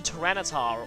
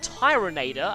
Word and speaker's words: Tyranitar: Another honorable mention goes to Tyranitar, or Tyroneator as I thought it was legitimately pronounced when I was a kid.